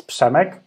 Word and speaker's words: Przemek: It's Przemek. But because it's also quite difficult to pronounce, people usually call me, or usually the US friends call me, because it's easy.